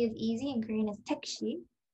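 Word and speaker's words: 택시: easy and korean is tekshi it sounds almost the same just pronounced in a very korean way so tekshi in the next picture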